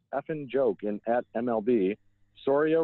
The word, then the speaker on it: Soria: So he says, "At Brewers, biggest effing joke in at MLB, Soria rhymes with diarrhea, and he is exactly that.